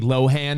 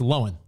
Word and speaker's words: Lohan: everyone that says lindsay lohan it's not lohan it's lowen almost like almost one syllable like lowen had this revelation i